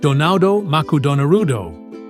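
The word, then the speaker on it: ドナルド・マクドナルド: The letters R and L in English are rather tricky for Japanese speakers to pronounce. As such, McDonald's decided to change their mascot's name to Donado Maku Donarudo or Donald Macdonald.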